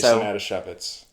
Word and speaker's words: Adasiewicz: Right, so today, the gush subject is the vibraphonist composer Jason Adasiewicz. Adasiewicz. Rhymes with Manischewitz.